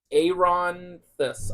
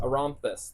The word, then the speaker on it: Aronis: world of Alasia again it's aonis aronis thank you that's how you say it arus I wrote this